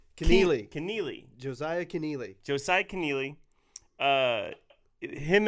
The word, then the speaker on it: Kennealy: Josiah Kennealy. I'm saying it wrong still. Kennealy.